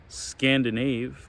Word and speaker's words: Scandinave: scandinavian norway sweden finland i didn't know you pronounced it scandinave but it's i call it the scandinavian spa welcome and what goes